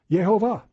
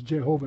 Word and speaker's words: Jehovah: or jojoba and but in the german the j is like a y so if it says jehovah because they don't understand